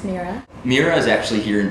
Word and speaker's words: Mirah: Mirah, pronounced Mirah.